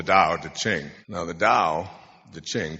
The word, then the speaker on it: Tao: Now the Tao, the Ching, T-A-O, it's pronounced D, but it's Tao.